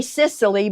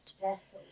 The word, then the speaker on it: Cecily: I want to say Sicily, but I don't think it's pronounced that. Cecily.